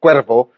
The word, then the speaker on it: Cuevo: Is that how you pronounce it? Cuevo.